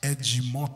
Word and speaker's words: Ed: all over the globe in Brazil my my original name is edim like edgy like knowledge yeah edgy